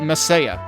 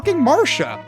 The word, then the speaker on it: Marsha: We've met Marsha already, but the translation spells it Messiah. What the hell kind of transliterate? It's lit. It's Marsha. Like, come on. It's Marsha. That's what it is.